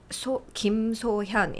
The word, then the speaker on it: Kim So-Hyun: So Kim So Hyun is how you say my name. Kim is the family name. So Hyun is my first name. Even though in Korea, first name goes last.